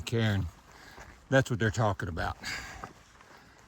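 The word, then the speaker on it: cairn: Woods they'll build those carons to help guide us and it's spelled c a i r n not k a r n so just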